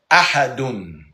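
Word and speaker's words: أحد: It's Qul huwallahu ahadun.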